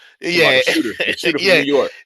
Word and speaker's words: Ionescu: That I always say her name wrong. Ionescu.